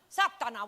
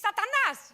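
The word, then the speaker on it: σατανάς: Satana, what the hell is happening? No, it's the same word in Greek. It's satanas. You're saying it wrong, but I'll excuse you for now.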